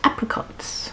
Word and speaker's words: apricots: It's 10.25% alcohol, and tasted of apricots, which in America is pronounced apricots.